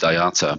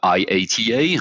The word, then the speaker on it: IATA: people pronounce it oh I pronounce it AATA but I know that some people uh would pronounce it like letter by letter uh iata I heard that in